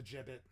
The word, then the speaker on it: gibbet: that you deserve the jibbit is that how you say it it's the jibbit isn't it or is the gibbet it's the jibbit I think yep uh pronounced jibit right I believe it's jibit but I I don't